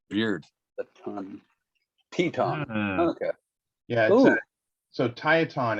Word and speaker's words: Tieton: So it's pronounced Tieton.